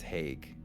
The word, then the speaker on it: Haig: high school nickname because no one knew how to pronounce my last name, so everyone called me, and that's how people just thought. That's how my I've name heard was. everyone say it. I thought it was like Hi. Yeah. And that's too totally sure. fine. You guys can use whatever you want, but the correct pronunciation is Haig, like the European Haig.